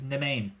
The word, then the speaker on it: Nemain: No, So, but her name is Nemain. the main. That's actually. No, it is. That's how she pronounces it.